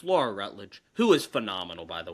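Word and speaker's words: Rutledge: It's Laura Rutled, who is phenomenal, by the way.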